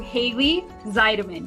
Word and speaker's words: Hayley Zeidman: We are talking to Haley Zeideman.